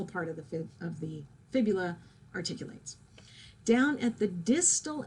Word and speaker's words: fibula: is fib eula okay people tend to say fibia tibia fibula okay if you need to